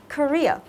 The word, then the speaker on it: career: Career.